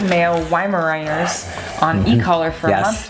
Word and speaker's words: Weimaraner: Lindsey says, I've been working with my 2 male Weimaraners on e-collar for a month now, and they're doing great.